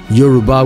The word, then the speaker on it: Yoruba: in the introduction quote yarba or Y Aruba is likewise the Houser pronunciation Yuba would be more correct end quote why the